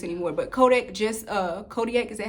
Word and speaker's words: Kodiak: even sell this anymore but Kodak just uh Kodiak is that how you say it Kodiak just came out with a oatmeal that's 20